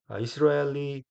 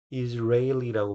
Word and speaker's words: Israeli: 이런 회사들이 이스라엘리 companies, Israeli라고 발음을 해야 되는군요. 이스라엘리가 아니고 Israeli companies를 대의로 지금 받은 겁니다.